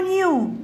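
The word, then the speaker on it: knew: الكي سايلنت يا جماعة الكي سايلنت بكتبها مش بنطقها أنا بكتبها new.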